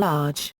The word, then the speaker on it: aj: Their endings are plural aj, pronounced I, accusative an, and plural accusative aj, rhymes with fine.